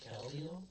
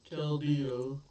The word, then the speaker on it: Keldeo: Caldio? Keldeo. That is not good. How do you spell it?